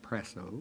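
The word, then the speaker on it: prassō: You spell it P-R-A-S-S-O, and I think it's pronounced presso, but I don't know.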